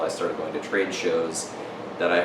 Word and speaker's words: Chauvet: started going to trade shows that I heard all the show baby J people pronouncing that show baby J and Sony events might hear me say sha they don't hate me